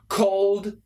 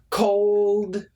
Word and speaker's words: cold: Now, cold, code. Cold. Very tough. It's not easy. If you have a difficult time with the L, it is tough, but get the L.